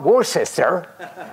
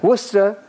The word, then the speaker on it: Worcester: Gloucester not Glau sister not war sister Worcester British people are very